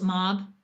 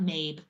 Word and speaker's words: Mab: I think that's how you pronounce it. Mob, not Mabe.